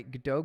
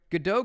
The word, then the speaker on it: Godot: Yeah, I'm about to work on my Godot game now. Haven't touched it in a while. Hey, there you go. That's the way to do it. Get the Godot going.